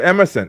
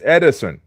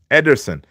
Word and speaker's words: Ederson: And yes, his name is not Emerson, it's Ederson. Ederson.